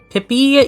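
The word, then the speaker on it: Pipi: Uh these were made by the same person who I will be calling Pippy even though it's spelled P I P I. I just feel like if I call them P every time, then we are not going to be mature about this for the entire stream.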